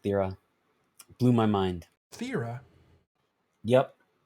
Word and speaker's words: Thera: It's actually pronounced Thera.